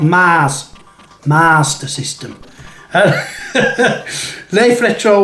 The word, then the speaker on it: Master System: it is it's the master system master master master system there's no r between the a and the s in master it's not mars master system left retro 1 and